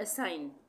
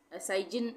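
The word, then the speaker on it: assign: उसके बाद असाइन, जी साइलेंट, असाइजिन नहीं पढ़ेंगे, असाइन, असाइन।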